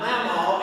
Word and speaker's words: mamaw: I am here today because of my mamaw, and that is how you say it. It is mamaw.